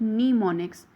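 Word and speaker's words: mnemonics: इट is pronounced as निमोनिक्स। जो इसमें M होता है first letter, that is silent.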